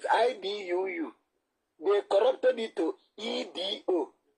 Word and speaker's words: Edo: Please pronounce E for me. Is it E or E? Is it not E? E. Now, if that is letter E, D-O is it not do? Is it not E-do?